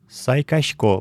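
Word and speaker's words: сайкасько: Сайкачко – просыпаюсь. Напоминаю, что в удмуртском языке «с» с мягким знаком произносится примерно как русское «ща».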